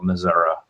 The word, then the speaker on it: Missouri: Missouri and I mean I called it Missouri when I lived Liv there I still I don't hear anybody in the South call it Missour but my grandmother and my aunt used to call Missoura now that I sto and think about it and I don't know what that was you know I never